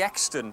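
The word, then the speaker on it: Euxton: i'd pronounce that yeah well it is actually extant so that's that's how you pronounce that what about sandler's breathing sammelsbury oh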